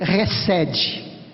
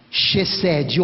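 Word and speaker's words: חסד: Essa palavra é resed. Se escreve C-H-E-D-E-D. Chesed ou resed, transliterando para o português, claro.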